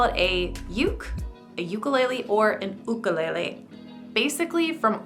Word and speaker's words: ukulele: the end all answer if you want to use the pronunciation more traditionally uh you you should use ukulele if you are saying it really short you can say yuke if you're using the Americanized version you can say ukulele you know everyone's going